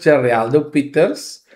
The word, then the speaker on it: Gereldo Pieters: ons kan weet hoe om vir u te pronounce en vir u Ok middag almal. Ek is Geraldo Pieters.